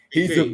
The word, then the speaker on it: Kincaid: he's Kincaid. available right now to take. Yes. I'm going with him, Dalton Kincaid. I Yep. don't know if I'm saying that correctly. Sorry if Yes, I'm. Dalton Kincaid.